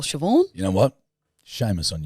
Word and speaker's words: Siobhan: Siobhan. Spelt like Cyberhand.